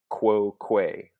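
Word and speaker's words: quoque: really a syllable right i'm saying quo que i'm saying two syllables so this u isn't anything in fact q u is just one letter it's called a labio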